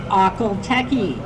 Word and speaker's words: Akhal Teke: Yes, that is how you say it, Akhal Teke.